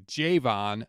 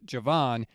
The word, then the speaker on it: Javon: saying his name wrong it is Jayvon not Javon he was pretty happy